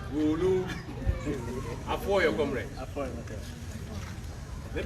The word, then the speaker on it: Gulu: What some of you call Gulu. The right pronunciation, I'm told, is Gulu.